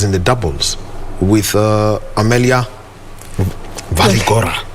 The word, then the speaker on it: Waligora: the doubles with Amelia Waligora. How do you pronounce that name? It's Belgium. Yes, Waligora. Sounds almost like Walibora.